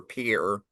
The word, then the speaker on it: Pierre: Taffonomy from the Sharon Springs member of the Pier Shale Formation, South Dakota, and to clarify, Pier Shale is spelled Pierre, you know, like the French name, but it's named after Pier South Dakota, cuz you know, God forbid we